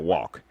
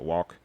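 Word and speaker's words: Wauck: And the writer's name is Mark, forgive me if I'm pronouncing the name wrong, but it looks like Walk. W-A-U-C-K, so Walk.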